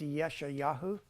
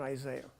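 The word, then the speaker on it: ישעיהו: you read it in Hebrew and Isaiah it's yesha yahu it's not Isaiah yeah but here uh T is also spelled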